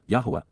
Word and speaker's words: Yahowah: For how long, Adma, until when will the eternal witness and restoring testimony of Yahowah, Yahowah, the proper pronunciation of the name of Eloah, God as directed in